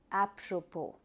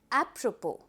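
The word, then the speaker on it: apropos: But when you pronounce the word the s has been eliminated and you call the word as apppropo. Let's have a repeat. Appropo.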